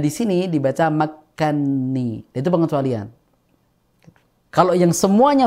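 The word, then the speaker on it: مكني: enggak salah ya Nah sebenarnya itu lafaznya adalah makanani kan Na dan ni kan dua huruf yang sama mutamatilain sama-sama berharakat berarti Kabir Nah di sini dibaca makkanni itu pengecualian kalau yang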